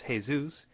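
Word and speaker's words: Jesús: of French ur and in Spanish its hey-zeus in Arabic its Issa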